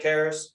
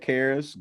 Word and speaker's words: Karras: Ted Karras. Yeah, Ted Karras, guard from New England.